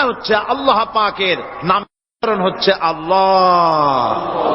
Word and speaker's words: আল্লাহ: না কেউ বলে না আল্লাহ আল্লাহ পাকের উচ্চারণটা হচ্ছে আল্লাহ পাকের নাম হচ্ছে আল্লাহ মুখটা একটু গোল হয়ে যাবে বলেন আল্লাহ আল্লাহ আল্লাহ আল্লাহ পৃথিবীতে বিভিন্ন